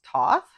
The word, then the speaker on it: Thoth: So even though it's spelled teach o t h is pronounced Thoth.